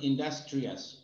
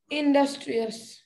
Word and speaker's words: industrious: আর তুমি আরেকটা উচ্চারণ ভুল করছিলা, এটা হলো এটা হবে ইন্ডাস্ট্রিয়াস। এটা বলো তো, এটা উচ্চারণ করো তো, এটা ইন্ডাস্ট্রিয়াস।